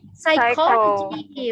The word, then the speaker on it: psychology: You see like PS, pseudo. Psychology. Very good. Psychology. Very good. So you see, when we say the sounds, so the sound can represents for this letter. You see, so the letter itself don't make the sound.